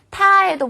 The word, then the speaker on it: 他: 타에도 보면 두 가지가 있어요. 하나는 사람 인변이 있는 타고요. 하나는 계집여변이 있는 타예요. 그래서 남자를 가리킬 때 타, 여자를 가리킬 때도 발음은 타 똑같아요.